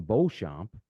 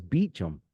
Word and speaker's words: Beacham: So to us, because it's a French Canadian name, we would call him Beauchamp, but he referred to himself as Beacham, and I just thought it was funny.